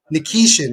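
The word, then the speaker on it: Nikishin: Nikeshian.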